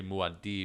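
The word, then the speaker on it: Muad'Dib: saying paul but like in the book it's actually muadee and he's like the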